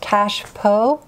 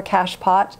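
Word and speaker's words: cachepot: online this is known it has two pronunciations cash PO is the French or cash pot is the British and I I wanted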